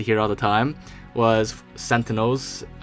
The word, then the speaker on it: sentinel: all the time was sentinels and sentinel beams being mispronounced as centennial so people would say